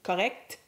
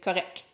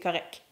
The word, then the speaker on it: correct: Note that the T is rarely pronounced.